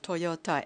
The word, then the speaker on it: Toyota: one of the designers suggested Toyota ending with ta and rather than saying d a pronouncing t a meets the requirement or needs or atmosphere